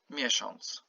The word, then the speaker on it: miesiąc: Here I put the OM just to remind you that on, this is how you pronounce it, okay? As if you have OM or ON or ONG, okay?